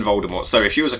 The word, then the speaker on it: Voldemort: the full story of Voldemort for some reason pronouncing the T even though JK Rowling has now said that the T is actually silent in Voldemort.